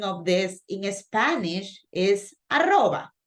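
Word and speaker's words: arroba: that usually listening to me but the right pronunciation of this in Spanish is aroba right we say an Rodriguez gmailcom right but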